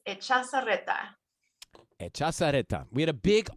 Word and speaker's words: Echazarreta: How do we say it correctly? That is Echazarreta.